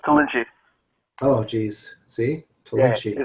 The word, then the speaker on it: Tollinchi: Is it Telecosini? No, it's Tollinchi.